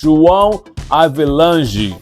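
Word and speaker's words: João Havelange: And his name, correct pronunciation, is João Avelange.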